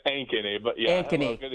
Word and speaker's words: Ankeny: Did I pronounce that correct? Is it Ankeny? It's Ankeny, but yeah.